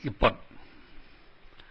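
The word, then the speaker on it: 一本: Ichi hon will be called ippon.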